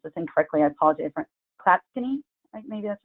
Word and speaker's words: Clatskanie: How do you pronounce it? Clatskanie? Clatskanie, thank you.